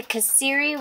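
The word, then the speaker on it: kasseri: The kaseri, which is spelled K-A-S-E-R-R-I, is fantastic, and it melts, and these are going to be so good with biscuits and gravy.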